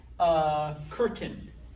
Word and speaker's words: curtain: In English, curtain, okay? Because that C comes before the U, it's K. It's not certain.